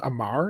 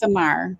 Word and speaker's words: Amar Desai: It was always Amar in my head. I always thought it was Amar. That's what it looks like, but it's Amar.